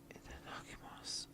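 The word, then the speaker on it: いただきます: Before eating, you always say "Itadakimasu." Again, the "u" or letter "u" doesn't seem to be pronounced. Itadakimasu.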